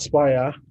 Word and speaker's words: Spire: Chief Errand Officer at Spire. He called it Spirit, but it's Spire, please. Anytime if you hear it's Spire, that's the correct pronunciation.